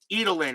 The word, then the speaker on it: Edelen: now in extra innings edelin is how martin's pronounce it edelin okay so joe edelen